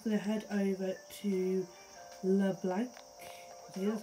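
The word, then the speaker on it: Leblanc: so we're just going to head over to le blanc here's how you pronounce it anyway we're gonna head over here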